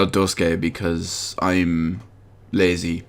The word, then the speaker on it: Duscae: 15 episode Duscae demo, which also may be pronounced episode Duscae because AE is generally pronounced as a Y, but I'm just going to call it Duscae because I'm lazy like that.